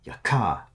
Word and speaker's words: Yaka: Emphasis on the second syllable, Yaka. Okay. I'll probably just call him Yaka, because that's what I'm used to calling him.